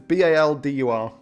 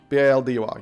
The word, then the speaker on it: Baldur: It's B-A-L-D-U-R. Boulder. Or is it B-A-U-L? I actually don't know. No, B-A-L-D-U-R.